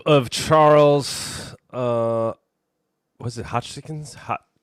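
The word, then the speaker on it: Hoskinson: Here's the clip of Charles uh was it Hotchkens. Hot how do you say his name? Charles Hodkinson.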